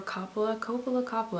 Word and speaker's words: Coppola: So the Bling Ring is the latest film by Sofia Coppola, or Coppola.